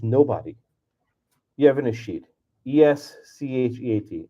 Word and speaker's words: escheat: ESCHEAT. It's like S-cheat, escheat.